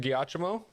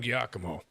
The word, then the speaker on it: Giacomo: cool car sir oh is that also a hard sea or a soft C does anyone know is it gyachomo or Giacomo you've done a real number on us Party Crasher Fox was it I'm Giacomo not the deck I